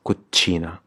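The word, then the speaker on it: cucina: from kuchina in italian notice how we say kojina but in italian it's kuchina refugio the basement and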